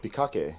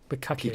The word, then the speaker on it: pikake: It's called pikake.